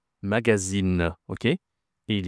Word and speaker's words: magazine: Ici, ce n'est pas une nasale. Tu dis le e, tu prononces le e magazine.